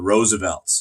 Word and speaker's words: RSVLTS: shirts from is called the Roosevelt and Roosevelt is spelled with no vowels ORS VLTs they do a lot